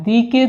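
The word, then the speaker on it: the: অর্থাৎ কোন শব্দের পূর্বে যদি ভাওয়েল থাকে তাহলে আমরা তার পূর্বে পদাচিত নির্দেশক হিসেবে যে বসাবো দি অর্থাৎ কি দুটোর বানান একই রকম কিন্তু উচ্চারণ দুই রকম।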